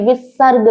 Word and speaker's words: विसर्ग: है अब हम पढ़ेंगे विसर्ग के बारे में कुछ शब्दों के पीछे इस तरह की दो बिंदी लगी होती है जिसे विसर्ग कहते हैं विसर्ग का उच्चारण अह वर्ण के समान होता है जैसे पुनः नमः प्रातः